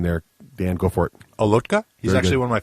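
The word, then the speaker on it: Olotka: Bill herbal Peter what's the second how you pronounced Peter's name there Dan go for it alotka he's actually one of my Facebook friends oh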